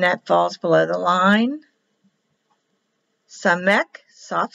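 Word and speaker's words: samekh: The samek has a rounded one. Samek, or soft C. Not an O, it's an S, or a soft C.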